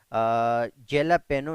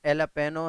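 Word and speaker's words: jalapeño: दो ऐसे वर्ड्स है जहां पे जे साइलेंट है, जैसा कि मैंने आपको पहले भी बताया कि जेलापेनो नहीं है, एलापेनो है। यहाँ पे जे क्या है, साइलेंट है।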